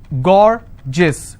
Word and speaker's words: gorgeous: i have a word gorgeous so gor jis two syllable i will stress on gore s-i-o-n tension pension so